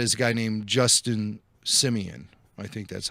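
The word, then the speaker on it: Simien: And the creator of that is a guy named Justin Simeon. I think that's how you say his name. I didn't hear Kathleen say it. Yeah, it was Simeon. Simeon.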